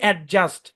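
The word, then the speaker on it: adjust: এখানে দেখেন এই শব্দটাকে আমরা বলি অ্যাডজাস্ট, অ্যাডজাস্ট না অ্যাডজাস্ট, D silent. D জি অথবা ডি জে একসাথে থাকলে ডি কি সাইলেন্ট।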